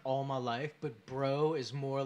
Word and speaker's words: Breaux: Well, no, I was bruh like all my life, but bro is more like, it snaps. It gets your fucking attention. I think I'm okay with it as long as you spell it B-R-E-A-U-X. Bro.